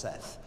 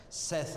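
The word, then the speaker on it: saith: says unto and that's s-a-i-t-h it's pronounced Seth Seth unto Zion Zion zygod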